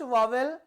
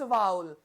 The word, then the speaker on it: vowel: इट्स नॉट वावेल, इट्स वाउल.